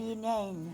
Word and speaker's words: Leenane: Bueno, con esta obra la belleza tengo acá como el me quedó de la belleza y pronúncianos bien el pueblo que es irlandés. Linein, Linein, la reina de la belleza de Linein.